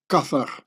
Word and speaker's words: Qatar: To the right, the Qatari flag and in Arabic Qatar gets pronounced kathar where ka in the feronic demotic is the living soul when alive and s is king or pharaoh.